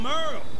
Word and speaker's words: Merle: I'm Merle, spelled like Hurl.